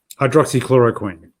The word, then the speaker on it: hydroxychloroquine: McQueen with that long one dryer good you'll pronounce the word for me I'd Rossi chloroquine that's it what is the prospects for it